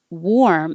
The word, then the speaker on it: warm: So, worm, the little animal, is actually an ER sound. Worm. But warm, it's warm in here, is an OR sound.